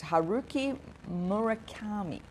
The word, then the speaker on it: Haruki Murakami: So I just wanted this quote from a Japanese writer, and I'll pronounce his name properly for you. It's Haruki Murakami.